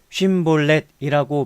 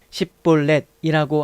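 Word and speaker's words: 쉽볼렛: 길르앗 군은 에브라임 지역의 요르단강 나루를 차지하고 에브라임 사람이 도망치다가 건네달라고 하면 에브라임 사람이냐고 묻고 아니라고 하면 쉰볼렛이라고 말해보라고 하고 그대로 발음하지 못하고 십볼렛이라고 하면 잡아서 그 요르단 강 나루터에서 죽였다.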